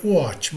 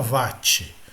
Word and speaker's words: watt: A pronúncia correta seria watt, mas em português brasileiro, todo mundo fala watt.